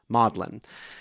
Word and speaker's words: Magdalen: It is pronounced Mlin.